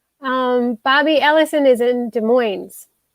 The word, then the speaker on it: Des Moines: bobby ellison is in des moines des moines i always put the s on there and i don't think it belongs uh david that would